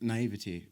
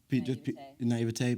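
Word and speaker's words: naïveté: I could see and acknowledge that it was happening around me, but there was a bit of naivety, or is that how you pronounce that? Naivete, because I hadn't experienced it myself.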